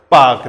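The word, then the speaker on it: Palk: कहानी पाकिस्तान की होगी नहीं इसमें आज साइलेंट होता है पाक बोला जाता है पाक पाक रेखा कौन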